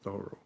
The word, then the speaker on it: Thoreau: Because as you may remember, Ralph Waldo Emerson goes down to see his friend Henry David Thoreau, that's the way he pronounces Thoreau, he's in jail.